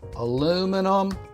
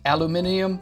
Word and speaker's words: aluminum: about my favorite Niche aluminum Tomatoes not pronounced aluminium Tomatoes you're being very rude